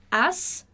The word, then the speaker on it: haz: Haz tu significa faça você alguma coisa. Haz. A pronúncia é como se fosse isso, haz, tá bom?